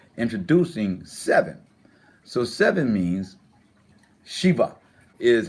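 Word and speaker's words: שבע: times now we're introducing seven so seven means sheba is how it is pronounced chiba-chiba is how it's pronounced in Hebrew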